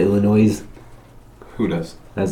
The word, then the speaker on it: Illinois: You don't say Illinois? You say Illinois. Who does? I was like, huh? Illinois. Illinois. You got it right that time. S is silent. It's French.